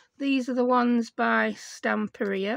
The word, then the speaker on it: Stamperia: These are the ones by Stamperia, or Stamperia as I call it. Yeah, I say it wrong.